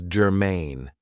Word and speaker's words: germane: So, the first adjective I have for you is germane. Now, this is 2 syllables, and the stress is on the second syllable, germane.